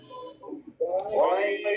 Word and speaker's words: غير: আলাইহিম, সিরাতাল্লাযীনা আন'আমতা আলাইহিম غير المغضوب عليهم ولا الضالين غير المغضوب عليهم ولا الضالين গয়রিল, গয়ন মোটা হবে, গয়রিল غير غير غير